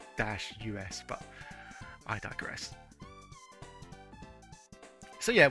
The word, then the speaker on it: Deus: Well, it should be. The title should be actually like Day-US, but I digress.